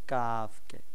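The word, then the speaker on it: ك: জিহ্বার যে স্থানটা ওইটাকে জিহ্বার গোড়া বলে তো গোড়া থেকে না গোড়া থেকে একটু সামনে এগোন সামনের জায়গাটা আর ওর উপরের যে স্থানটা আছে গোড়া থেকে সামনে বেড়ে উপরের যে স্থানটা ওইখানে মিলিয়ে আমরা উচ্চারণ করব কাফকে তাই বলেছে জিহেবার গোড়া থেকে একটু আগে বাড়িয়া তার বরাবর উপরের তালুর সঙ্গে লাগাইয়া মধ্যখান পেঁচানো কাফ হ্যাঁ এরপর দেখেন ছয়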